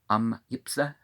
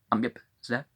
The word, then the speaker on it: AMIPZI: TABLIOR, Tabalior, CASARM, Kasarm, AMIPZI, Yipsa. They're listing as 2 syllables. Yipsa.